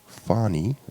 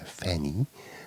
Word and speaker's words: Fanie: to pronounce my name, it's actually Fanie, like a long A, Fanie. So that's my last name, obviously. So you've got Fanie. Some American people or some other foreign people say Fanny, which is also fine.